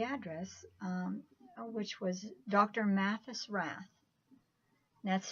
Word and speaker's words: Rath: Mathis Rath that's spelled ma t th u.s. dr. Mathis Rath and rath very easily just the way it sounds ra th it's a